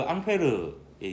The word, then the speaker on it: 앙페르: 암페어는 그 앙페르의 영어식 발음이다, 이렇게 보면 되겠습니다.